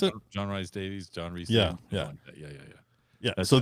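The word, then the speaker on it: John Rhys-Davies: Is it John Rhys Davies? Yeah, is that how you pronounce it? John Rhys Davies.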